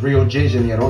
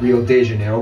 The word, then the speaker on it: Rio de Janeiro: the old capital Rio de Janeiro alright it's pronounced Rio de Janeiro not Rio de Janeiro get it right we're not in Mexico to